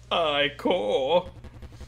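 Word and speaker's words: ichor: I can fill it with magical eye core. That's pronounced I core. Choose your I core wisely.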